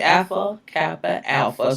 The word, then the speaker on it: Alpha Kappa Alpha: So the president of the AKA, and I should say it right, Alpha Kappa Alpha Sorority Incorporated, because that's how you should say it.